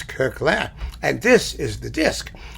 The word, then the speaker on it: Koechlin: kurkler who some of you insist should be pronounced cursed some people say kirschland some people say kirkland there are other people with the same last